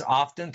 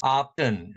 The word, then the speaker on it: often: also pronounce it as optin so t is pronounced often often okay but more people pronounce it as often without the t sound open up and okay